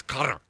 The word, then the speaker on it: Qatar: You know, the actual pronunciation is something you and I couldn't do. Our American tongues can't say that. I just thought it wasQatar. It's cutter. Oh, okay. If you're saying it correctly, it's like it's very gutral.